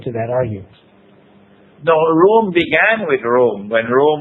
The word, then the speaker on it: Rome: No, Rome began with Rome, when Rome was pagan. But it's R-U-M or something to that, correct? You can pronounce it as R-O-O-M. Rome. The pronunciation, Rome, yeah.